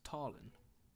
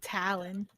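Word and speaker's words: Talin: His name is Tarlin. Tarlin? Tarlin. No relation. T-A-L-I-N. Not Tarban, but Tarlin. T-A-L-I-N. Tarlin? T-A-L-I-N. Tarlin. Oh, Talon. Talon. And he pronounces it Tarlin.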